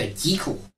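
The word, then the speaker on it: Jekyll: deagle ah the original pronunciation music to my ears well make my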